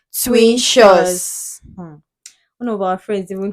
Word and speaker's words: Twintous: name of our Channel some people don't know how to pronounce exactly it's called twin shows one of our friends